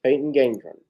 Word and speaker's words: Gendron: How do we pronounce his last name? Gendron? Peyton Gendron? Yes, Peyton Gendron, who shot and killed several people at a Tops grocery store out in Buffalo.